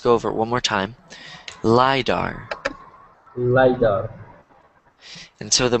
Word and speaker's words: lidar: a weird word so one more time lidar wider my door lie back uh-huh all right how